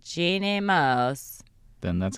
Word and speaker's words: Moos: For some reason, I assume it's Moose. She said it on air, but it's like Mose. Jeannie Mose. This is how she says it. Jeannie Mose.